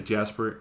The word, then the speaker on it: Jasper: But at least I have a, well, my name, Jasper, works in English because I can say Jasper, but I wouldn't say Jasper in Dutch.